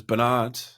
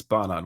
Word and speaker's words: Barnard: Um, everyone says Bernard. Bernard. It's Barard.